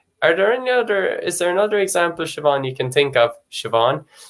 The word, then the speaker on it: Siobhán: No matter what, SI, no matter your dialect or whatever, it's going to be pronounced sh. That sort of sound, like Siobhán, Siobhán.